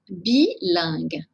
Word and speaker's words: bilingue: Attention, ce n'est pas la même prononciation que langue. Je parle une langue, c'est le son en. Ici, c'est le son un.